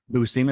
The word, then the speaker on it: Buscema: How do you Sal say his Buscema. Yeah. Buscema?